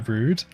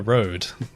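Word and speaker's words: Rood: Luca Road. That's how you pronounce Road, it, right? yeah. Yeah. Luca Road, yeah. It's R-O-O-D, and I've always said rude in my videos.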